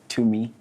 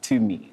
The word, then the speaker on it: Tumi: Tumi Morake. Tumi. There's no H in my name. But you said it like to me when you were...